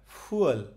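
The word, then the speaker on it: fuel: আচ্ছা, তো এখানে যেহেতু দুইটা ভাউল আছে, দুইটা স্বরবর্ণ আছে, তার মানে এটাকে এইভাবে একটু উচ্চারণ করতে হবে, ফুয়েল। এই ওটা একটু টেনে বলতে হবে, কিন্তু এখানে যেহেতু একটা ভাউল আছে, এটা হচ্ছে সরাসরি ফুল।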